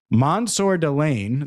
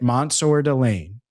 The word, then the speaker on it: Mansour Delane: Mansour Delane, the LSU corner, and that is how you say it, Mansour Delane, visited this week in Sonny Styles.